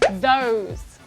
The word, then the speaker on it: those: So we have voiced เสียงก้อง and we also have unvoiced เสียงไม่ก้อง โรซี่เนี่ยลองยกตัวอย่างให้เห็นภาพเลยดีกว่า Okay, so we will look at voiced เสียงก้อง first. First word then, those, weather, brother, and breathe. Okay, and unvoiced, we have think, Thursday, marathon, author, and bath.